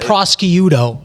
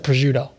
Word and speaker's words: prosciutto: So he'll call it prosciutto instead of prosciutto.